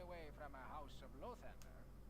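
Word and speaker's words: Lathander: from a house of lothender did you say low Thunder that's not our pronunciation I would say that'd be La Thunder okay oh he wants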